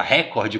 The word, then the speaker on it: recorde: e busca da Excelência Então você viu que eu pronunciei a palavra recorde como a gente gosta costuma dizer recorde que é o padrão correto na Norma culta então tantos jogos olímpicos